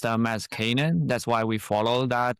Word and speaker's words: Canaan: Our founders pronounced them as Canaan, that's why we followed that pronunciation, but I have heard Canaan, Canaan, you know, I think they all make sense.